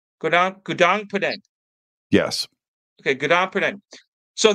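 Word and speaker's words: Gunung Padang: Gunan Punang. Gunan Punang.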